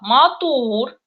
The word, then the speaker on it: матур: Ударение в татарских словах всегда падает на последний слог. Это уже проще, в отличие от русского языка, где ударение просто прыгает со слога на слог. Например, мисал «матур», «кызыл».